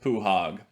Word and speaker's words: pwhaug: between sev moon and puhog i know that's not how a lot of people pronounce his name but i pronounce it puhog so they drew the